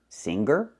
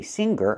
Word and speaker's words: singer: The word is not pronounced singer. I cannot pronounce the g, the hard G sound here. I cannot say singer, I say singer. Singer. The sound is in your nose.